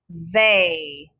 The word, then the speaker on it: they: look at my tongue they sounds like an a but it's a trick word remember they is spelled t-h-e-y that was a tricky